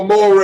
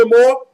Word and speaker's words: Amore: If you don't like Enzo Amore, Ray, there's something wrong with you. Come on, say it. It's not Amore. There's not an accent on the A.